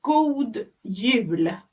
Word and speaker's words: God jul: It is God Jul. Oh my. Good. God. Gold. Yeah. Jul. What is it? Jul. Jul. Like you know Y-U-L-E. You have Y-U-L-E, Yule. Oh, Yule.